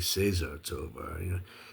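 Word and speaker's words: César Tovar: And hey, here's one of Cesar Tovar. I guess the correct Spanish pronunciation would be Cesar Tovar.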